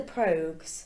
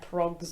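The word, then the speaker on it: Pogues: guide it was it the probes yeah that's us that's how you pronounce it I was gonna say like prompts or something but he had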